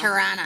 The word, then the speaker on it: Toronto: how you say it like a real Canadian. Tirana. It's not Toronto. It's It's Tirana.